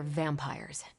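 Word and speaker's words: vampyres: The new breed I'm tracking are, they're vampires. I see. No, I do not. You already said they were vampires. Vampires with a Y? Pronounced exactly the same as vampires.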